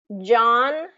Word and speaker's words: John: let me contrast them John Yan John Yan John Yan okay you hear down difference s so that J sound has a little bit more friction J it's j it's